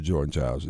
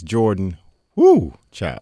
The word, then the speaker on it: Jordan Chiles: withdraw the bronze medal that was awarded to Jordan Chiles. I think I said it somewhat right. Yeah. Well, you said her name wrong. It's Jordan Chiles.